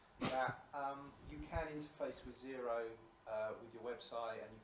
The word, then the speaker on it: Xero: of cloud-based softwares, like Zero spelled with an X.